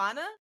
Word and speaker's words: Kafana: It's Kafana. Yeah. Okay. Exactly. Not how it's spelled.